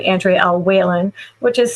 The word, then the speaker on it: Wehlann: Also, my author name Andre El Whan, which is spelled a little bit funny for people. It's pronounced Whan like Jennings, but it's spelled we l a n.